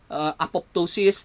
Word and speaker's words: apoptosis: to see Sabina Appaloosas silent second letter P apoptosis I do we I'm